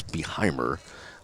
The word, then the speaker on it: Beheimer: And the pronunciation we found out it's Beheimer, the pitcher for Lane Beheimer, the pitcher for Christian Heritage.